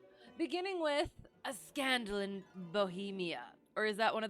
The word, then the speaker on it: Bohemia: See how it is pronounced. Just to make sure I'm not... It is Bohemia. Bohemia.